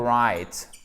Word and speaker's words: write: chers amis toi oui tu ne prononcera points le w dans le verbe to write hockey qui signifie écrire